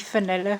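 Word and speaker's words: Fionnuala: Because Fanula, right? F-I-N-U-L-A. Yeah, and that's the Anglicisation that you're Fanula.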